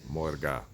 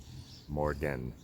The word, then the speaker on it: Morge: Morga, not Morgen. Like, don't even put the N on it.